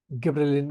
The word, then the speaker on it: gibberellin: Second आपका लिखिए, पहले स्पेलिंग लिखता हूँ, GIBBERELLIN, गिबरेलिन बोलते हैं उसको हम लोग।